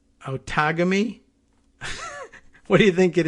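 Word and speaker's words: Outagamie: let's let's click on this one how to pronounce it see what they say don't take on me oh tegame you think you've taken me yeah i heard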